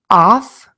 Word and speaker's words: of: American English and last off and of this is an exception typically the letter F is pronounced as an F sound here we pronounce it as a v in the word of off of excellent okay